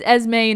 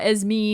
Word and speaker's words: Esme: say her name right it's esme not as me you weirdo and william